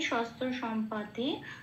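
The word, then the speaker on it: শস্ত্রসম্পাতে: যেমন আছে তেমন, শাস্ত্র শস্ত্র সম্পাতে যেমন আছে তেমন, চান্টিংয়ের সুবিধার জন্য একটু প্লাস প্লাস দিয়ে ভেঙে নিয়েছি, শস্ত্র সম ময় হসন্ত দিয়ে পাতে, এরম ভাবে বললে একটু রিদমটা ঠিক আসে। প্রবৃত্তে শস্ত্র সম্পাতে।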